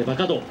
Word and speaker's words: 馬花道: 馬の花道と書いて馬鹿道。